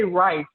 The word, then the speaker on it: Wrice: So with Facebook, it's Ricky Wrice. And when I say Rice, always remember my last name is spelled with a W. So it's W-R-I-C-E.